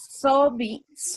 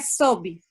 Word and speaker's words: sob: Então, neste texto, sobe se pronuncia, a pronúncia é sobe.